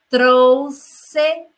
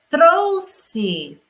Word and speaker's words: trouxe: Ele trouxe flores para ela. Ele e ela. E as flores. Trouxe é o verbo conjugado no passado, do verbo trazer.